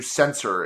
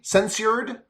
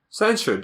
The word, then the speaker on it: censured: getting like like censor I I never know how to pronounce that word because my brain just tries to do sensor it's Cen s u r e censured censured yeah okay she like